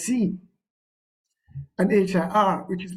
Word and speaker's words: sie: It's spelled as SIE, but it is pronounced as C, and HIR, which is pronounced as here.